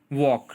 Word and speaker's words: walk: वॉक, WALK, वॉक, उसमें जो L letter है वो साइलेंट है.